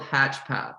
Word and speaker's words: HatchPath: Sure, it's called HatchPath. So you can think of it like hatching an egg and then the path that you're on.